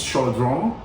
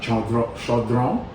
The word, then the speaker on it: chaudron: It's basically the utensil that it's cooked in, and it's kind of, the French is chaudron. If I think I've got the pronunciation right, chaudron.